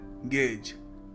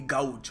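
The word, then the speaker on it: gauge: the first word देखिए पहला शब्द है गेज गेज जी ए यू जी ई अब लोग इसको कई बार देखते हैं और सोचते हैं इसको प्रोनाउंस करने का तरीका होगा मे बी गाउज और काफी सारे लोग गाउज बोलते भी हैं व्हिच इज रंग जैसे माय डियर फ्रेंड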